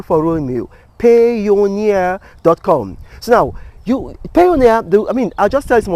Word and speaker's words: Payoneer: It's almost like Pioneer, but it's called Payoneer.